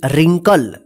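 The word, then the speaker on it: wrinkle: एन के एल ए रिंकल रिंकल का मतलब होता है झुरिया देखिए यहां पे यहां पे डब्लू जो है ना साइलेंट रहेगा ठीक है ध्यान रखिएगा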